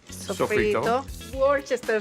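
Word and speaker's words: Worcestershire: Warchester sauce.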